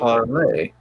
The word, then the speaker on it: parley: parlay. Oh yeah. Parfait. No, parlay. Oh. Spelled parley. But actually pronounced parlay. Spelled like Pawsley, but without the S.